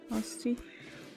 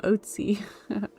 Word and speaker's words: Austi: Apparently, I also say your name wrong and everyone corrects me. Austi. Austi. I used to call him Oatsy.